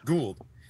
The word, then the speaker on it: Gould: bro is pronounced gold or how is it pronounced yeah Gould okay yeah it reminds me of uh a